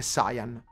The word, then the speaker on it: Saiyan: Grazie Tia, grazie Nico, come Shenron o Shenlong e Saiyan invece di Saiyan, di Saiyan, sì, è Saiyan.